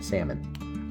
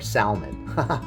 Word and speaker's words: salmon: these must be S salmon I almost said it guys I almost said salmon or salmon yeah don't pronounce the L so we're going to